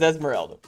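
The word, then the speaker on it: Esmeralda: is cat lisa raga as esmerelda ah you said it right you even kind of rolled your r i tried that's good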